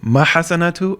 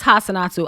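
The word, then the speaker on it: Hassanatu: i mispronounced her name is it mahasanatu or um no it's hassanatsu i was calling her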